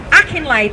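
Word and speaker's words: Akinlade: Akinade. Sorry, I'll spell it now cuz I said it wrong. AK I N L A D E.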